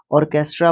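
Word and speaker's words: orchestra: ऑर्केस्ट्रा जी बिल्कुल इसका pronunciation यही है ऑर्केस्ट्रा बोलते हैं इसको और यह ग्रुप होता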